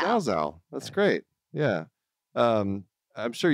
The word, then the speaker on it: Zalzal: It's 3 letters repeated itself, but people manage to mess it up. Yeah, just like Glaucomfleckens. It's such an easy thing. Spelled like, just like it sounds.